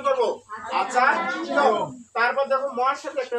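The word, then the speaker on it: আচার্যম্: তাহলে উচ্চারণ হবে আচার্যম, আচার্যম। কি উচ্চারণ করবো? আচার্যম।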